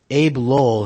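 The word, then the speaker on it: Abbe Lowell: Cohen's allegations regarding the Trumps will also include a claim that Ivanka Trump's attorney, Abe Lowell, that's Abe with the 2 B's, I think it's still pronounced Abe Lowell, who represents Jared Kushner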